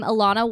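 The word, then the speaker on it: Ilana: Alana walking down the street and realizing that her name rhymes with Madonna and Rihanna.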